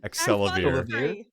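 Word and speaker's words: Axelavir: Excelavir. Excelavir! Excelavir. Like Excalibur.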